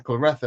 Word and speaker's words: Claressa: But her name is Clarissa. That's how it's spelled. But Clarissa is with a I. But I don't care. I'm saying Clarissa because that's how it's spelled. And I've heard her say Clarissa herself. And I've heard other people say Clarissa, so that's what I'm going with.